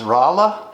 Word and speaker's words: Rolla: we are in uh i always mispronounce it it's rolla rolla yes missouri in the